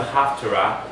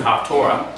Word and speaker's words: Haftarah: And then we know the prophet reading came in when the Torah was outlawed, the reading of the prophet known as the Haftarah. Some people pronounce it Haftorah.